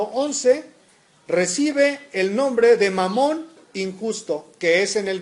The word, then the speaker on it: Mamón: Mamón, con acento en la O, es un término arameo que significa riquezas.